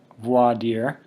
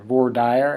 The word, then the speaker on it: voir dire: got jury selection or voix deer if you're trying to pronounce in Latin or voir dire if you're just trying to read it like it would seem an English opening statements examination of